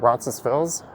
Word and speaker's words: Roncesvalles: There's also Roncesvalles or Roncesvalles. Some people say the S on it, some don't.